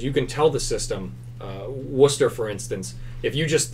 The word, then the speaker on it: Worcester: in as a user and you can type Worcester, the correct pronunciation, and add it to our database. So then from that point on, we know that this is pronounced Worcester, and the next time we do an XPlane